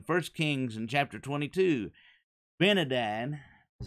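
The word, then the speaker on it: Ben-hadad: benide is how you say that name he went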